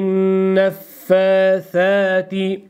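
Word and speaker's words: النفاثات: شَرِّ النَّفَّ نَفَّ وَمِن شَرِّ النَّفَّاثَاتِ ثَانِ çözücü işten çıkıp kalırdı. Nefâdegi alif, thâdegi alif elbette telaffuz etiliş gerek. Toluk iki hareket buluş gerek.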